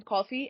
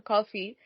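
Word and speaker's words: Coffey: whose name is coffee and he normally says that my name is coffee he coffee like the drink but spelled different very nice show by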